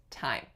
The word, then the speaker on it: thyme: Another one that comes to mind, and not many do, is time, like the herb. So obviously it's spelled T-H-Y-M-E, but we do not say thyme, we say time.